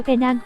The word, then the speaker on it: Penang: Riêng với Penang, các bạn đọc là Penang với âm P phát âm mạnh nhé.